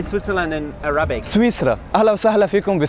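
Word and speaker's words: سويسرا: Swissra.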